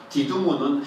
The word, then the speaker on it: 디두모: 디두모는 헬라어식 발음이고요.